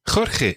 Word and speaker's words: Jorge: Jorge, exactly, yeah. It's a really tricky name, but it's a good name to practice the j sound of Spanish. Se llama Jorge.